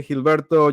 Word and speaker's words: Gilberto: people call me but it would be nice if you say Gilberto just pronounce it that way even Gilberto is okay